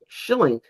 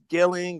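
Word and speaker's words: Schilling: Schillink. You got it. How you pronounce it?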